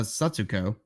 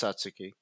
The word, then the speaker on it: Satsuki: film uh okay well first it's uh Satsuki Satsuki is it actually yeah they pronounce that's uh satsuko it's Satsuki uh it's a Tuki